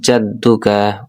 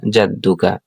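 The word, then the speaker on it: جَدُّكَ: কাসমুকাতা কাসমুকা বলা যাবে নাসমুকাসমুকা ওবিহামদিকা ওতাবারসমুকা ওতালা জাদ্দুকা ওলা জাদুকা ওতা আইন উচ্চারণ করতালা জাদ্দুকা জিমের জবর দালের তাসসির জাদ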